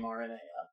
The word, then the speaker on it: Aranea: Okay, do you want to know the legitimate reason that I pronounce her name Aranea? Yes. It's because I do have a tendency towards Aradia, and it differentiates them. That's fair, because I say Aradia and Arania, and that got confusing in the last episode